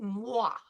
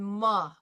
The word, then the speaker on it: moi: I just would be happier if you said it moi rather than ma. I'd be happier if you went moi. Like it does down here, W-A-H, moi.